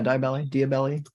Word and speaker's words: Diabelli: Is that how you pronounce it? Yeah, sure. Yeah, Diabelli.